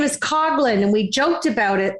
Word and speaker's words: Coughlin: to be here and your last name is cogin and we joked about it because I always